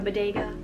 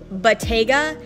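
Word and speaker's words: Bottega: wanting a purse that is just like a bodega okay i'm just embarrassed because i googled this how to pronounce it and it's pronounced battega i'm saying bodega as in a little grocery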